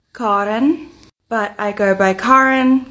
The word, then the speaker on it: Karin: It's pronounced Karin, but I go by Karin, Karen, even if it's been a doozy of a year for Karens or.